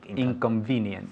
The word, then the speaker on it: inconvenient: And one more time with the V. Inconvenient.